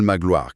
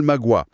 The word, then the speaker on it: Magloire: On écrit Paul Magloire classiquement, suivi entre parenthèses de Paul Magua, écrit avec la règle des 32 phonèmes.